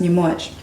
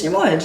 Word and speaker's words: Nyamuoch: So for example, in Noor, it's pronounced Nyamuoch. So when I'm around any Sudanese person, my Noor people, it's Nyamuoch.